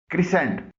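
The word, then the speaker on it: crescent: भी सी खामोश है क्रिसेंट सी आर ई एस सी ई एन टी इसमें सी खामोश है सीन की आवाज जो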